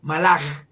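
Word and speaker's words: מלאך: La palabra Malad, como si fuera con J, Malach. Es así que se pronuncia en hebreo, Malach.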